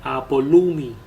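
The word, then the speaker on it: apollumi: vida la perderá Okay perderá es una palabra que se pronuncia ap olumi Okay viene de la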